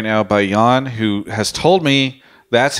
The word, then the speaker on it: Yeon: you by Alienware I'm joined right now by Yan who has told me that's how his name is pronounced there was a person in my twitch